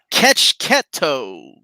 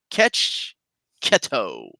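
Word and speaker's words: Checchetto: Omar, it is pronounced Ketchketo. Ketchketo. Got it. Thank you so much. Italian last name.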